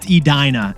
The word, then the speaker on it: Edina: Jackie pointed out to us that I mispronounced Edina. It's Edina, not Edina.